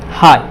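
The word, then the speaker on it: high: किसी शब्द के अंतिम अक्षर अगर GH T हो तो GH जो है हमेशा साइलेंट रहता है। ओके, अगर अंतिम अक्षर GH या GHT हो तो GH जो है हमेशा साइलेंट रहेगा। जैसे ये देखिए, अंतिम अक्षर क्या है, GH है, तो इसमें क्या होगा, ये GH हमेशा साइलेंट रहेगा। तो इसको क्या बोलेंगे, हाई।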